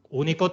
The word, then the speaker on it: único: complicaciones por ejemplo único único tiene tres sílabas una dos y tres y el golpe de voz va en la tercera contando desde el final es único no es único y único por tanto